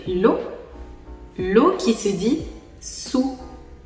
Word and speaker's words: su: l'eau qui se dit sous ça s'écrit s U et ça se prononce sous vous avez également l'eau